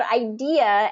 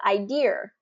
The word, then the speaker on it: idea: I had a question that said, can I pronounce the word idea as idea?